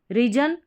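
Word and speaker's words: region: चलिए अब नंबर 21 जो कि लास्ट है, इसमें क्या है, GEON और GION, इसको आप जन करके पढ़ेंगे, और GEOUS और GIOUS को आप जस करके पढ़ेंगे।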